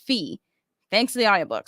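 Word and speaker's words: Fae: Hunter by selenia Goldenberg apparently it's not pronounced fi it's pronounced fee thanks to the audio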